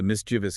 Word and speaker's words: mischievous: The human brain naturally wants to rhyme it with words like previous or delicious, which end in that e-us sound, but you have to resist that urge. Three syllables only.